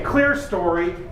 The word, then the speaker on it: clerestory: be a clerestory window here in Midwest we say clear story but it's spelled clerestory our story right there but